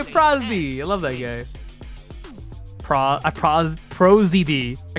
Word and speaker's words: Prozd: Prozd. I call him Prosdy. Pro and then DD are pronounced the letters.